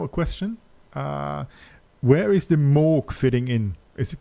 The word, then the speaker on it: Moog: obviously I'm German and There's two ways of pronouncing it. I hear people say Moog, and I said Moog because I watched a documentary and I heard Robert himself say Moog, so I was like, okay, that's the correct pronunciation. It was. Okay, yeah, that's maybe but Moog is valid, and yeah. Okay. Some people prefer this. Some people prefer Moog because it sounds cooler.